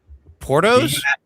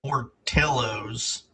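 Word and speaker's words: Portillo's: Uh portello or whatever the Porto it. Huh? Porto. No, it's like portillos.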